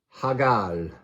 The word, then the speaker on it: Hægl: Hægl. 9. Hægl. Hægl. Hægl. So this joined A and E is talking about a slide between A and E.